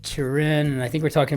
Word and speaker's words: Turin: I always want to give that a French pronunciation, Turin. But Turin, and I think we're